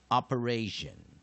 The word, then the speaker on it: operation: 那第三个音节弱音节 Digraph T-I as sh, weak vowels with that O as a, an, ration, operation, operation, operation。 OK，我们最后一次做进阶解释。OP syllable E syllable TI sorry RA syllable TION